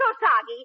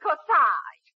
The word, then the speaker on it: corsage: Oh, Parky, darling, it isn't Kosagi. It's Corsage. A-G-E is pronounced Age, as in garage.